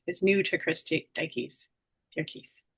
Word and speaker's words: Dierkes: Durkis, how do you say your last name? I say it Derkys.